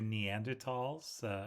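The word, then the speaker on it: Neanderthals: I would say uh here's your neander TS over here the H is silent and so on as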